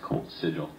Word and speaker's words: Colt Szczygiel: Yes, my name is pronounced Colt Szczygiel.